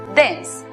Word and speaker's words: dense: tiempo es saber que la E al final de las palabras es muda, como ocurre en la palabra vida, que se pronuncia life, o en la palabra denso, que se pronuncia dense.